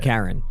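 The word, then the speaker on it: Charon: Is it Karen like K A R N? I assume so. Well like I want to speak to your manager. Spelled like C H A R O N. Oh but I'm not saying char.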